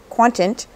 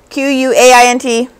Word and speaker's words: quaint: home now a Quant quantent reminder of the acquaintant babe how do you say this word q-u-a-i-n-t quaint wow that was called quantent quaint sure we've got it